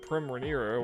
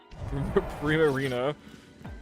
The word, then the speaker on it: Primarina: And Prim Reira. Whatever. Primarina. Not whatever I just said.